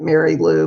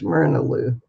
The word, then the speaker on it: Myrna Lou: it's all one word it looks like mary lou but it's mirnaloo and i was named